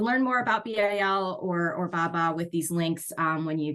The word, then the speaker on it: BABA: It also brought about the Build America, Buy America Act requirements, which is usually abbreviated as Buy America or BABA, pronounced BABA.